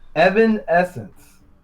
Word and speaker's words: Evanescence: Evanescence. Evanescence.